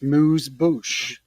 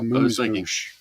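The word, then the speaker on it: amuse-bouche: I actually think it's a moose boosh. I think is how it's formally pronounced.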